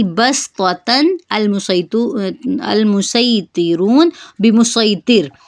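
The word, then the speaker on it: بصطة: इनको पढ़ने का तरीका यह है कि इनसे पहले जो दो है उनमें सीन पढ़ा जाएगा।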